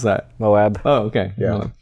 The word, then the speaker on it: Moab: you took your van to Moab. How do you pronounce that? Moab.